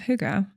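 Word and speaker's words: hygge: you say um it was called House of Huga oh I have seen that um yeah how did you spell it h y g g e and what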